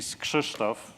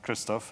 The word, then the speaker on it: Krzysztof: I mean hello so my name actually switched off not Christophe and if you look at how it's spelled it doesn't help this is how you say it but still it works